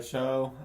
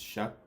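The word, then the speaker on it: Shough: Uh they take Tyler Show. Um Shuck. It's Shuck. Shuck. Tyler Shuck. That's definitely pronounced Sho.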